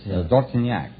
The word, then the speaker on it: Dortignac: What kind of a name is that, Dortonak? Well, that's French. Oh, it is, huh? That's French. How would you pronounce it over there? In France, Dortignac.